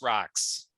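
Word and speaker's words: Rock5: It's Rock 5, pronounced rocks.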